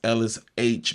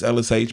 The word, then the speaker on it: Ellis Aych: It's LSH, baby. My last name is not H, it's spelled A Y C. Like, it's H, but it ain't just the letter H. Uh, it's LSH, baby.